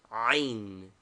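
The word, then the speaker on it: عين: Name, Ain. Equivalent, A with a rough breathing, etc. Pronunciation, a guttural sound only heard in Arabic. It must be learned from a native.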